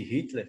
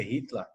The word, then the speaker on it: Hitler: Então, a maioria das pessoas que pronunciam, por exemplo, o nome de Hitler, pronunciam errados, né? O certo seria Hitler. O ER tem som de AR na Alemanha.